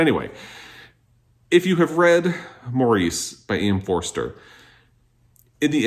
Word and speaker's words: Maurice: I always say Maurice by e.m. Forster but I think if you're in the u.k. You pronounce it Morris.